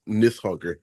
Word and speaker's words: Nidhogg: me look this up you guys are all pronouncing that r at the end and I gotta is that intentional it's I I I looked up the the phonetic pronunciation and the D is actually like a th so if I'm remembering correctly I think it's nith hoger okay that's what it should be got it got it